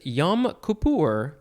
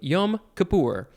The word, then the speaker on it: Yom Kippur: 1611 the synonym is yam kapoor and i think i said that kind of funny yom kippur y o m next word k i p p u r and that is a